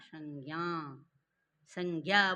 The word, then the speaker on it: संज्ञा: संज्ञा बोलो, अब लो संज्ञा, ज और या मिल करके संज्ञा बनता है। तो ज्ञा संज्ञा उच्चारण क्या होगा, लास्ट में क्या है, या है, तो क्या बोलना है, संज्ञा संज्ञा।